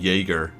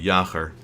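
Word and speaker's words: Jäger: a visit like I I say my name Jagger like that like the you know like the German SL American pronunciation if I actually say it the way I should be saying it it sounds completely different it should be yaker it feels as if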